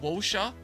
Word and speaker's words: Wuxia: Wuxia, pronounced like Wosha, are basically Chinese action movies, but instead of guns and explosion, it's swords and martial arts.